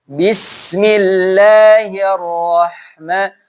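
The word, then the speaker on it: بسم الله الرحمن الرحيم: Bis, sinnya alirkan. Bismillahirrahmanirrahim.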